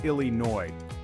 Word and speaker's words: Illinois: fries with that remember it's Illinois no s required okay adventurers